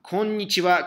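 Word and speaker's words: こんにちは: Antonio-san, konnichiwa, ¿qué significado en español? Buenas tardes. Exactamente, ¿sí? Konnichiwa. Buenas tardes. Recuérdense ustedes, aquí jae no es wa, ¿ok? Parte ja. Sin embargo, la pronunciación cambia. Wa, konnichiwa.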